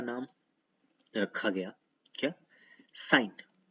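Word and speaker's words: sine: नाम रखा गया क्या, साइन। लेकिन हम लिखते हैं क्या, सिन। कुछ लोग सिन बोलते हैं, सिन नहीं है, साइन ही है। इसको आप प्रोनाउंसिएट भी करोगे साइन, सिन मत बात कर देना इसको।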